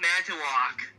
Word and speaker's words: Manitowoc: Dude, I think it's pronounced Manitowoc.